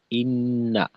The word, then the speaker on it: إن: আর শেষে ইন্না আযাবাকা, ইন্না, এই নুনে আবার টান হবে না।